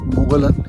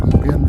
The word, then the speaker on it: Mogollon: It's not Mogollon, यहाँ पे spelling में ऐसा रहता है, but actually it is Mogollon Rim।